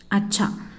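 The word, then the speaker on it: अच्छा: நன்று, குட், அச்சா.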